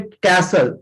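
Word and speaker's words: castle: देखिए, ये भी वर्ड है, इसमें कैसल, इसमें टी साइलेंट होता है।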